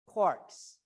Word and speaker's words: quark: inside protons and neutrons there are something called quarks so junior high or high school students learn